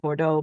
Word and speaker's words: Bordeaux: the place so like you said Bordeaux perfectly why because because e auau no matter where you are is going to be an o sound you and those are